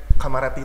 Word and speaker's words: Kamarati: Tapi actually pronounce-nya Kamarati adalah Kamarati, nggak Kamarati. Tapi ada kok yang bilang kayak gitu, Kamarati gitu. Aku baru tahu itu, dan yang nge-pronounce itu orang Solo loh. Dan aku jelasin itu pronounce-nya Kamarati bukan Kamarati.